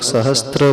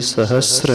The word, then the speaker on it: सहस्र: सहस्त्र नहीं है, सहस्र। बहुत सारे लोग सहस्त्र बोलते हैं, जिन सहस्त्र नाम नहीं होता है, जिन सहस्र नाम होता है। स है और र है, वहाँ पे त नहीं है।